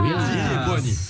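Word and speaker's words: Zitti e buoni: Ziti et Buoni. Yeah. Ziti et Buoni. Perfect pronunciation.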